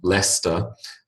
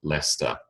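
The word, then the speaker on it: Leicester: examples the first being Lester uh l c s t er spells ler strangely um that uh that town is in the the Midlands of of England and they were the Premier League champions last year but leic Sr strangely spells leester capital city of the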